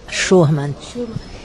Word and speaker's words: Schurmann: É assim que pronuncia seu nome? Schurman.